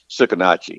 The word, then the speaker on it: Sucarnochee: do you pronounce them tsukitachi it's spelled suc AR n och EE and it's a river down here tsukitachi you say tsukitachi and it's a it's a Choctaw word beats I used to